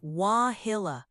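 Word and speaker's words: Wauhillau: talking about wah hillow local say it like wahilla it's a small community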